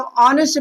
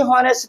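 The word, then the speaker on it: honest: और यहां पे हम ऑनेस्ट पढ़ते हैं ना कि होनेस्ट पढ़ते हैं। यहां पे हम एच को साइलेंट कर दे रहे हैं।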